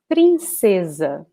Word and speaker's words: princesa: And here we have princesa, princesa, princesa, okay? So notice that in Portuguese we have the A in the end of this word, so we should pronounce like this, princesa.